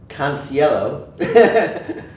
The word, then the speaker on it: Canciello: And this is Robert Canciello. I believe I pronounced that You did pronounce it correctly.